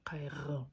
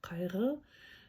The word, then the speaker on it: қайғы: как к, не к, не х, а к кай. И вот эта с чёрточкой. Угу. Она звучит не как г, не как р. Ага. А как р р как у французов, наверное, есть такое произношение, да? У украинцев есть такое произношение, по-моему. Кайр, кайр р не р, а р р больше г р кайр переводится как горе, печаль, скорбь.